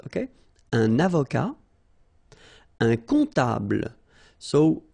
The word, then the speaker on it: comptable: Un comptable, so OM, remember it goes like on, all right? And then, strangely, this P is not pronounced.